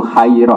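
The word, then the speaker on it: خيرة: Jadi baca yang benar tuh khairah apa? Tapi kalau ada baca khirah ya benar.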